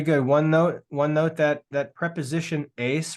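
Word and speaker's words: εἰς: One note that preposition ace right there. Notice that the epsilon and iota are a diphthong, so it's just one syllable. It's just ace.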